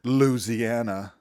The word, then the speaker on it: Louisiana: That is how it's pronounced. Louisiana.